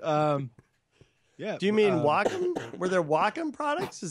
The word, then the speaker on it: Wacom: pronunciation and grammar so it's Wacom not wake them okay and the next